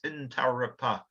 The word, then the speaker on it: Intarapa: In Aboriginal pronunciation, there's no emphasis on any one syllable, so it's Intarapa. We tend to emphasise the second syllable, so we might say laboratory with emphasis on the second. But looking at these names, it is certainly just equal emphasis.